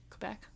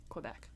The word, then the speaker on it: Quebec: Ooh, I also learned, allegedly, the correct way to pronounce that province in Canada that starts with a Q. Quebec.